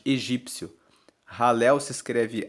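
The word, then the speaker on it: Hallel: Salmo 118 o Salmo 118 faz parte do ralel egípcio ralel se escreve h a l l e l e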